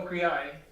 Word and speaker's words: Okri: Yes, Do you pronounce it Okri or Okriai? Okri. Okri, okay, good.